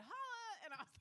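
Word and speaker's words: challah: Like the little girl when I was in the bakery, and I said, how do you pronounce this bread? Cholla. And she said, holla.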